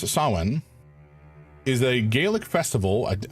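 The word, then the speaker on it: Samhain: Uh ah Sam Hayne not pronounced like that approximately pronounced as sawen is a Gaelic festival.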